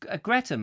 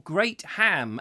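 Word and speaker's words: Greatham: Mike Stevens no it's Greta isn't it Greta or great ham as its spelt but pronounced Greta meeee Jeff Kellison says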